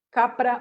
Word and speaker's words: Capra: youtube se escribe fritjof capra así tal cual como suena como cabra pero con pe y leer cosas del